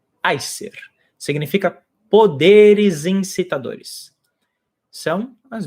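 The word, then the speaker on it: Æsir: conhecer o termo Acer as pessoas geralmente chamam de aizer a pronúncia em ordem contigo é ai ser significa poderes incitadores são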